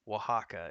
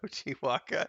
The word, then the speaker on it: Oaxaca: like a dick but it's oaxaca is how you pronounce that you said ochiwaka that's okay i just